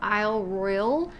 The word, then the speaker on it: Isle Royale: We've been calling it Isle Royale for many years because it has an E on the end, but when we got to the national park, they told us that it's pronounced Isle Royal.